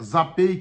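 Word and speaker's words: Zapay: baixa o aplicativo gratuitamente da zapi se escreve HP a y mas é zapei que se pronuncia e ali vai enxergar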